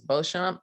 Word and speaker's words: Beauchamp: know was fine it gets pronounced a lot of ways the way i say it is beauchamp but beauchamp it it's good we're